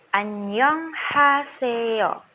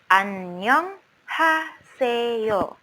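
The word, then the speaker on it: 안녕하세요: perkalin perkatanya suku katanya annyeonghaseyo Annyeong haseyo nah Disini yang kelihatan beda di romanization yaitu huruf vokal bunyinya senyum2 juga temen-temen tidak membaca Anyeong tetapi bacanya Annyeong c-nya tidak kelihatan New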